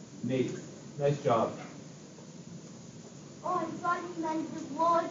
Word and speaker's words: Nate: is the same so it's not Nat it is n Nate nice job Oh I